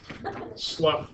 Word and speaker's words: slough: is very small here this is how you pronounce it sluff during menstruation okay so back to an overall